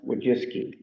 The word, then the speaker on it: Wojcicki: That's a Polish name. It's spelled Wojcicki. And they said in the article, it's pronounced Wojcicki.